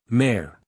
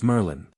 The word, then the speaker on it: Merlin: Mare. Harry pointed at him triumphantly. Mayor. Mare. Mare. Merlin. The ancient wizard corrected automatically. My name is Merlin. Mare. Merlin. Two syllables.